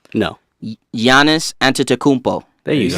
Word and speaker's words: Giannis Antetokounmpo: Hey, can anybody here pronounce his name? No. Giannis Antetokounmpo.